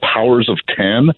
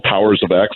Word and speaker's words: Powers of X: He's got the House of X and the sister title called Powers of 10 or Powers of X, depending on how you want to pronounce it.